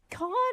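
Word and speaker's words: Cannes: Yeah, it's can.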